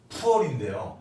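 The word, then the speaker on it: 普洱: 운남을 보면 운남을 보기 전에 우리가 보이차 그러면은 푸얼인데요. 중국 발음으로는 푸얼인데 보통 할 때 보통 보자를 씁니다.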